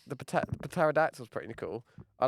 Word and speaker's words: pterodactyl: I like a pterodactyl why do you say the P that's what it's just pterodactyl the p is silent no well you want